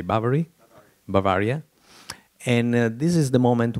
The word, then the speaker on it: Bavaria: of of baviera how do you say bavari Bavaria and this is the moment where he is